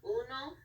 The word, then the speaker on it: uno: for one we have Uno we have our U H pronounced as the uh two o's which meant the ooh noise those which means two